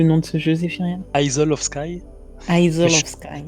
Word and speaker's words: Isle of Skye: Donc, Et je pense que tu as raison sur la prononciation. Je viens de demander à Google et il me dit Isle. Isle of Sky.